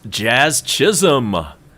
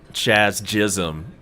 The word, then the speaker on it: Jazz Chisholm: And it's Jazz Chisholm. He's the batter for Miami. You got to be careful how you say his name. You might get it backwards. Like Chaz Chisholm, would be something easy